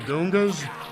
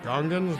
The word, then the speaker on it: Gungan: He don't even say it right. He calls them Gongas. Everybody else says Gungans, but he's George Lucas.